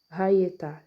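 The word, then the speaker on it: היתה: Em vez de pronunciar a letra Yud ou Iade com som de Iá, pronuncia com som de Iê. Por causa desse sinalzinho massorético aqui, esses dois pontinhos aqui embaixo, tá vendo? Aí eles pronunciam o quê? Ietá, Ietá, Hayetá, entendeu?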